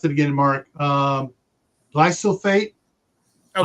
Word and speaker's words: glyphosate: Glyphosate. Oh, glypho, like PHO.